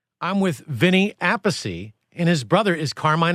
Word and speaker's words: Appice: So he was Appice at one time. And I believe when he started playing with Rod Stewart called him Appice, pronounced it. And that's when he decided to change it, and I didn't like the way that sounded, Appice. So I stuck with the way my father said it, which was Appice. And we have another brother, Frank, he says a peach.